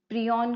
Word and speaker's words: prion: particle है ठीक है इसको हमें कैसे एक्चुअली में प्रोनाउंस करना है प्रोन ठीक है इस तरह से हम इसको प्रोनाउंस करते हैं तो हर एक